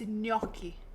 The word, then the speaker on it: gnocchi: And it's gnocchi. Yeah, we got that. He showed the word only. It gets me every time someone's like, I mean, it's fine, but like I'm making gnocchi.